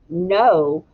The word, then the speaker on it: know: And you'll notice that they sound the same, but they're spelled differently and they have very different meanings.